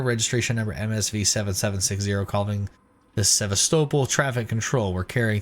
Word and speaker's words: Sevastopol: Okay. Sevastopol. So that's how it's pronounced. Sevastopol. There was just an android there.